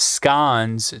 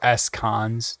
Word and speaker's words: SCons: Python is awesome, and we need to have scans to do, or scons, depending on how you say it, but scans to do our compiling for us.